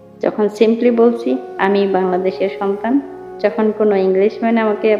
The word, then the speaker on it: বাংলাদেশ: Guys খেয়াল করবেন উচ্চারণের ক্ষেত্রে একটু, আনা মিন বাংলাদেশ, বাংলাদেশ। একটু খেয়াল করলে আপনারা বুঝবেন যে আমি উচ্চারণটা ভিন্ন ভিন্ন কেনই বা বললাম প্রথমে। যখন সিম্পলি বলছি আমি বাংলাদেশের সন্তান, যখন কোনো ইংলিশম্যান